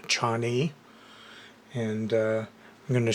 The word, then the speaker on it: Chani: from Mars is robot which I guess is pronounced Chan and uh I'm going